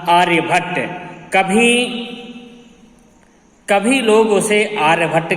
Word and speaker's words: आर्यभट: तो आर्यभट्ट जो थे, तो हम लोग भट्ट शब्द का उच्चारण करते हैं, पर वास्तव में भट्ट नहीं है, इनका नाम आर्यभट्ट है।